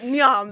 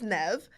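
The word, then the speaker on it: Niamh: There is no V in Nev. And I remember reading a book where the character's middle name was Nev, and it's spelled Niahm. That's Nyam. What? I pronounced it Nyam this whole time, and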